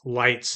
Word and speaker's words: Light: she first sees him, she says his name's Moon Yagami because his first name is using the character for Moon and but he pronounces it light Yagami.